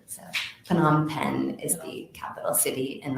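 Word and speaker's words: Phnom Penh: capital cities that correct that is correct yes p on pen is the capital of Cambodia okay can you spell that sure it's pH n o m and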